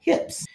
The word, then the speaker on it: HYIP: co-workers to invest in these amazing Vehicles called hips which is spelled hyip not hi high yield investment platform